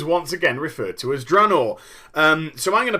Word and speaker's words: Draenor: actual title uh now I initially started to call the place dror and then I early on made a decision to change to Drano the reason why I